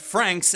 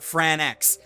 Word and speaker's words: Franxx: Darling in the Franxx is still going strong, and yes, I know that it's pronounced Franxx and not Franxx.